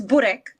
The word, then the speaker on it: burek: How do you pronounce it, and what is it? It's burek.